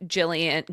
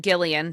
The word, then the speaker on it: Gillian: Uh it says that both nothing has been confirmed but that both Jillian Gillian sorry that's how you say her name.